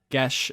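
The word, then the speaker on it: geas: yeah actually it is the word is Gaelic I believe and it can be pronounced a couple of different ways gesh is the one we said in season 2 when it first came up so we can stick with that I can make somebody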